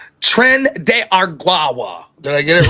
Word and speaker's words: Tren de Aragua: Rob, last chance to say Tren de Aragua. Tren de Aragua.